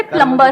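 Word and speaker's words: plumber: सर जैसे प्लम्बर, करते हैं। सब लोग प्लम्बर बोलते हैं हमारे देश में, बढ़िया है यार, क्या दिक्कत है? बी साइलेंट है उसमें।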